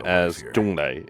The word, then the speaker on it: Zhongli: Zhonglei. It's because it's the Cantonese pronunciation.